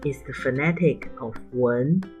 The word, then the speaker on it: 蚊: 蚊 wén은 모기입니다.蚊文은 왼쪽 虫 chóng 곤충, 오른쪽 文文 문화이다.文 wén은 蚊 wén의 발음입니다.蚤 zǎo는 벼룩이다.蚤 zǎo는 위쪽 㕚 차 포크와 아래쪽 虫 chóng 곤충입니다.